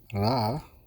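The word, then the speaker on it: ら: And ra, we learned that the R syllable is not pronounced like R. It's pronounced like a half roll for a Spanish R, with your tip of your tongue on top of the roof of your mouth and back of your teeth, and as you breathe out, ra, ra.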